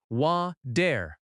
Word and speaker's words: water: Water in American English often has a soft t sound. It sounds like wa-der.